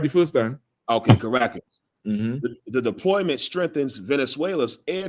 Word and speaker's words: Caracas: Okay, Caracas.